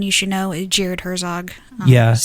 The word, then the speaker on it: Herzog: it there's someone you should know is Jared Herzog yes spelled like it sounds Herzog h er zo g